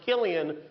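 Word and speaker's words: Cillian: It's pronounced Killian when he does drama. When he does comedy, it's Sillianne.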